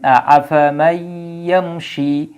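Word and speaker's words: أَفَمَن يَمْشِي: ইয়াকে এই জায়গায় মোশাদ্দিদ বানানো হয়েছে এজন্য একসাথে উচ্চারণ হবে তাহলে আফামাইশি তাহলে ইয়ামশি শব্দটা কিভাবে আসলো সেটা আমরা বিশ্লেষণ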